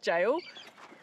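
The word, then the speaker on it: gaol: I first saw it I always thought it was g g apparently it's just a different way of spelling it like it's still pronounced jail it's like in the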